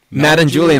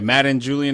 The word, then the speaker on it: Madden-Julian: Madden Julian oscillation, yeah. Madden Julian Like m a d d e n? a m a d d e n, yeah, like the like the football game.